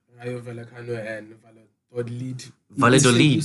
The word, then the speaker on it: Valladolid: You Valladolid. say it like a Y, the double L.